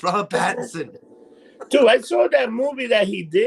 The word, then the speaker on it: Robert Pattinson: trip you mispronounced everyone it's not brian patrick it's robert pattinson dude i saw that